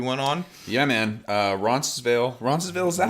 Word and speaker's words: Roncesvalles: Roncesvalles, is that how you pronounce it?